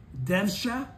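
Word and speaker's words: dvesha: This is so hard to pronounce because it's D-V-E-S-H-A. Devsha, or anger, is one of the three poisons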